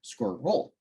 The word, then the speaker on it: squirrel: could be included but squirrel is intended to be pronounced as a two- syllable word squir roll according to most dictionaries screeched and strengths are